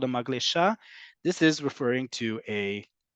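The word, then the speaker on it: מגלשה: If you said maglesha, you would be correct. The word is maglesha.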